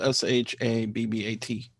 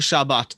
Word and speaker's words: Shabbat: that is has is either pronounced with an S or t so people will say shash Shabbat and people